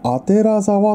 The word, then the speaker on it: 左沢: がねなんとこれ左沢と書いてこれ読める人いますかねこれアテラ沢と読むんすよあてあアテ